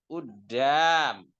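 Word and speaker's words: قدام: Udam. Udam itu asalnya Qudam, bacanya qaf, tapi di amiyah qaf jadi apa? Hamzah, udam.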